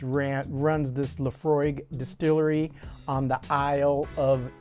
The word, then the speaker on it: Laphroaig: it's h tells you it's pronounced Lefroy uh Scotch wh whiskey